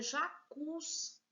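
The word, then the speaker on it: jacuzzi: Aí nós temos a próxima palavra jacuz. Veja, o cus, ele é mais forte. A última sílaba, se é a última, ela é oxítona.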